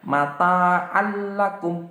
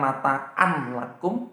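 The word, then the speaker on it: مَتَاعًا لَكُمْ: Contohnya mata allakum, bukan mata anlakum tapi mata Allah, dimasukkan tapi tidak didengungkan, bukan mata allakum tapi langsung mata allakum, seperti itu.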